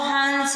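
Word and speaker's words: हँस: जैसे अगर हंस पे चंद्र बिंदु लगा हुआ है तो हंस हो जाएगा, और बिंदी लग रही है तो हंस हो जाएगा। इस तरीके से आपको पढ़ के इसका उच्चारण करना है।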